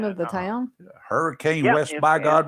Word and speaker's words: Hurricane: Hurricane Yep, West it's- by God, Virginia. It's spelled hurricane, but they call it hurricane.